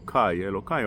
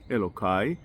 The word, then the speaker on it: Elokai: from is that uh when the pute this poem the song was written it was eli with but with time in order to rhyme with raishimon yai they started saying elai elokai rhymes beautifully with raishimon yai but you're not allowed to say elai because of the reason we just said again if you say